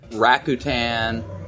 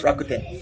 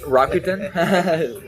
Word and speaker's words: Rakuten: Stock Exchange Morgan Stanley Rutan you're not from Japan it's rakuen Rakuten well yeah my uh